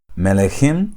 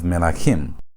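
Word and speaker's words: מלכים: Instead of you having melechim, you have melachim, which means kings.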